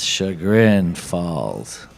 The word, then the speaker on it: Chagrin Falls: It's Chagrin Falls.